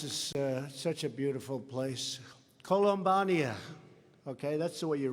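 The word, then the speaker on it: Columbiana: I especially want to thank, this is such a beautiful place, Columbania. Okay, that's the way you really pronounce it.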